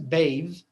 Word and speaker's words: bathe: So this E in the end, it changes the word from noun to verb and it also changes the pronunciation. يعني bath أصبحت bathe وbreath أصبحت breathe.